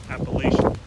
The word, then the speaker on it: Appalachian: If you're up north, you can pronounce it Appalachian, but don't do that in the south. People will get mad.